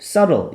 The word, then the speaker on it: subtle: 자, 이런 현대적이고 subtle, 영리한, 이 B는 소리가 안 납니다.